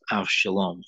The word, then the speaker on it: Avshalom: from one of his sons, whose name was Abshalom. Now, Ab, pronounced Av in Hebrew, A-B, where we get Abba. It means father. Av means father. And Shalom is peace, well-being, prosperity, and health. Av Shalom, father.